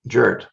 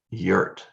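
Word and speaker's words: Jurt: name is spelled j-u-r-t so i'm inclined to say jert but of course that's not correct she's german and so that should be yurt so uh i i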